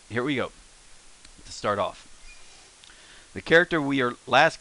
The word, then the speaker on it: を: because you'll find out this character is pronounced o more often than you'll ever hear pronounced whoa so so why are